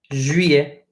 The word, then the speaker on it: juillet: Long story short, we know the T is silent because final consonants are always silent, right? We know that, unless they are C, R, F, or L's, right?